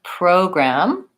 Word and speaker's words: program: So we have program, stressed syllable says O.